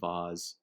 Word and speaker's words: V*A*S*E: came up with uh vase pronounced vaz and uh it looks cool with the v the a kind of like lining up and then the word is just like a vaz and then i don't